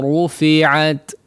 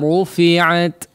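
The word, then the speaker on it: رُفِعَتْ: Coba diperhatikan tebal tipisnya ya. Huruf ra ya, perlu ditebalkan di sini ya. Jangan hanya pengucapan ra sekedarnya saja. Ru la. Ya, ru la. Ru diperhatikan ketebalannya. Nah.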